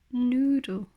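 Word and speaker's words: Nudel: Parce que comme en latin, si le U n'a pas de umlaut, donc les fameux deux petits points, eh bien il se prononce comme OU et non comme U.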